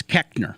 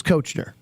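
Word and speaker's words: Koechner: So the official way is Keckner. Yes, but phonetically, the way it looks, it is Kochner.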